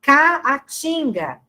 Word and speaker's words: caatinga: O exemplo aqui, ó, caatinga. Então, o som do A, dos dois As, é um som distinto, né?